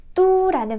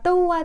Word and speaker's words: 都: 그래서 我们都, 你们都, 우리 모두, 너네 모두 이렇게 말을 하는데 이 글자도 뚜라는 발음을 가지고 있습니다. 모두라고 할 땐 또우지만 도시와 관련된 상황에서는 뚜라고 읽어요.